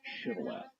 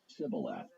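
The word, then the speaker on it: shibboleth: In Gilead, people pronounce this word with a sh sound on the front of it. So it would be pronounced chival.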